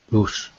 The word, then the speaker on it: loose: two words H loose loose loose with an S sound and an oo loose is the first